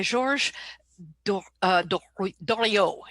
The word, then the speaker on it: Georges Doriot: So, venture capital, as we know it today, was invented in 1946 by Georges Doriot is how you pronounce it, actually.